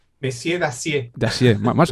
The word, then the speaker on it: Dacier: Yo no sé el francés, yo lo pronuncio fatal, me puedes corregir, eh. Eh, ¿cómo es el Dacier o Messieur Dacier. Dacier, más o menos.